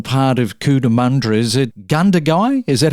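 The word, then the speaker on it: Gundagai: Is it Ganduy? Is that how you say it? Yeah, Cudamandra Gundy is a is a merged council.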